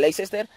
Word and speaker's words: Leicester: mesa por richard marek del leicester o de lester como lo que es decir se pronuncia de las dos maneras y veremos a ver